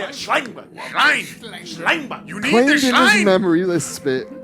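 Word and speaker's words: Schellenberg: Schleinberg.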